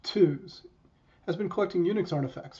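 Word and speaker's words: TUHS: second group is bit savers eunice historical society pronounced twos has been collecting unix artifacts for almost two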